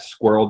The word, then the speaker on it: Sqrrl: We are at Squirrel Data, and that's not spelled like you expect, right? It's like SQRRL.